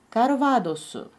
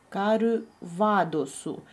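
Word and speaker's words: カルヴァドス: Карвадосу. Помните, что у снигере это в. Например, Иван можно написать через, вот, через у снигере и маленькую а. Так и здесь. Ва. Видите? Карвадосу. У снигере читается как в.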